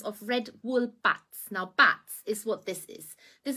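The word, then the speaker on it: batts: Now, bats is what this is.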